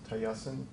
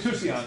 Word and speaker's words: Tusayan: was proposed by, I'm going to say the name wrong, what is it? Tayasan? Tayento. It's the Grand, it's up Tusayan? around the Grand Tusayan. Canyon. Tusayan. Tusayan, that's it, up around the Grand Canyon area.